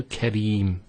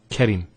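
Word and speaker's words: كريم: So here we have the ra, kasra, followed by the ya. This is the ya here. So Kareem, not Karim.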